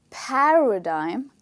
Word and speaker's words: paradigm: this word is pronounced the stressed part is the first part of the word which is pa okay so you say paradigm so when you say